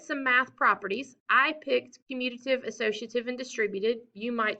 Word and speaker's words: commutative: you guys about the commutative property y'all do not pronounce this community right the numbers do not communicate they just don't they commute they move back and forth so like when i